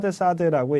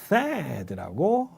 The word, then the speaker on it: THAAD: 자, 그 다음에 이것도 이제 발음 문제가 있는데 한국말로 할 때는 그냥 사드라고 얘기를 하지만 THAAD라고 영어로는 그렇게 발음이 됩니다.